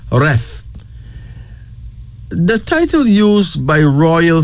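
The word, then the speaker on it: Reth: R-E-T-H, pronounced Ref.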